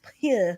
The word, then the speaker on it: Pugh: And Florence Pugh like I don't know how to say her last name. Florence Pugh. You said it right.